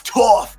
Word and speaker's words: Toph: And they have this funny joke where there's this giant muscular man playing Toph, and he's like, "My name is Toph because it rhymes with tough."